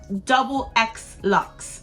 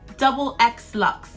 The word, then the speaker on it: DoubleXLuxxe: last couple of weeks how do you say your channel name so it's double x lux so i'll put it on the screen so you can see it double x lux the name comes from